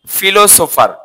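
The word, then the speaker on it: philosopher: এটাকে আমরা বলি সচরাচর ফিলোসফার কি বলি ফিলোসফার নট ফিলোসফার পুল এটা হচ্ছে কি ফিলোসফার ফিলোসফার এই আরটা সাধারণত ব্রিটিশরা আর এর উচ্চারণ করে না বললে চলে আমেরিকানরা আর এর উচ্চারণ করে তো এটা যদি আমরা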